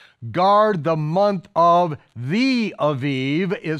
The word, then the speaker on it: Aviv: Now when you see Abib, anytime you see a B in a Hebrew word, in the body of it, it is normally, just about every time, it is pronounced as a vet instead of a bet, okay? It's not Elizabeth, it's Elisheva, okay? It's not Abib, it's Aviv.